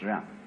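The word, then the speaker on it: 仁: Spelled J-E-N, for reasons best known to Chinese scholars. I don't know what they are, but it's pronounced Ren.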